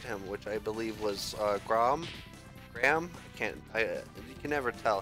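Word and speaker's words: Greham: But I call him Graham, like a graham cracker.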